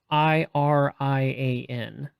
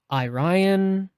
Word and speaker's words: Irian: do well it's pronoun it's spelled i r i a n and depending on where you're from it could be like irian irion e Ryan irian I mean any kind of combination of those like eyes and E